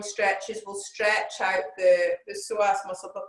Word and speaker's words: psoas: hour um on the psoas muscle it's start with a p it's a silent p it's all very strange